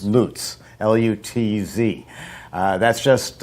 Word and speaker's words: Lutz: a cafe called Revelations Cafe in, is it pronounced Lutz? Lutz. Lutz, L-U-T-Z.